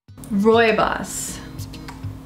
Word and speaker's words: Rooibos: Rooibos. That's how it's pronounced.